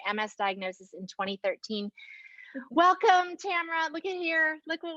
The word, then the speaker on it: Tamara: t tamara just kidding tamara rhymes with camera we were just joking